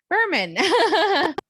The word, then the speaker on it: Bermann: Today, I am so excited to welcome Katheryn Bermann. And I probably said it wrong that time just to say it wrong. Bermann.